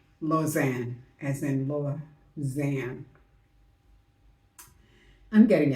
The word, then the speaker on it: Lausanne: When I said Lausanne was pronounced Lausanne, it's actually pronounced Lausanne, as in Lausanne.